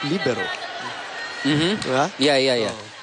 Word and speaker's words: libero: in for en libero internationally It's pronounced libero mhm ba yeah yeah